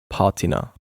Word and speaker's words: Patina: Um this is a Swiss product and in Switzerland we say patina.